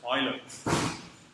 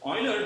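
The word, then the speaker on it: Euler: this is e u l e r is pronounced as as Oiler you can say you yes but don't get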